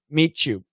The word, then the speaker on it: meet you: make it an sh and meet you two should be a ch but uh some americans might make it an sh maxim hi shane the